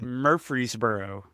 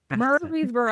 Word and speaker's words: Murfreesboro: It's Murphreey'sboro. Murphreey'sboro.